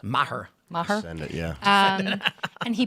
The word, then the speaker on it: Maher: How do you pronounce his last name? Maher, I guess. Maher.